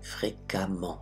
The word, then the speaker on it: fréquemment: Fréquemment. Et le E se prononce A.